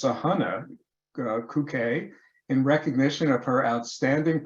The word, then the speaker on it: Sahana Kukke: Well, actually, here it says it's actually pronounced Sahana Kuke, in recognition of her outstanding professionalism and scientific and collegial interactions.